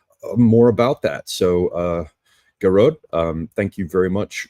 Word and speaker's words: Gearóid: your name right yeah it's like garod so it would be like g a r o d I think phonetically gerod yeah g so first emphasis on the first syllable yeah I think so